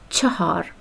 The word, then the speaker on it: چهار: چهار is the correct pronunciation, but because everything gets normalized by time, the pronunciation has turned into chahar in informal Persian. But its correct version is chahar or chahar, ch without any vowel, chahar or chahar.